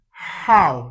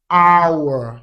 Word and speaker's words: hour: H in them, but the letter H is silent, which means you do not pronounce the sound of the letter H. And that's the So for these words, we don't say an how.